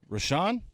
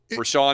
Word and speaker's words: Richaun: research right now yeah we're Sean is also it would be interesting if we're sean is pronounced were Shaw and given that it starts rich RI CH aun alright so this guy